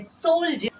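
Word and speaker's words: soldier: जाता है ड लेकिन जब यही हम लिखते हैं सोल्ज तो यहां पर डी को हम ज प पते हैं इसके अलावा जब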